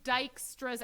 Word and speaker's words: Dijkstra: Welcome to Dijkstra's algorithm. Dijkstra is how you pronounce this.